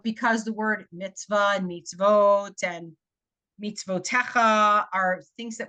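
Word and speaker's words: מצוות: to to o oh meets vot yes remember this exception of when you have a shva and a V with a vowel on it you pronounce the vowel it's like this obscure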